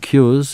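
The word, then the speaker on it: Qures: wwq group calm and cures is spelt qu r es so cures root cures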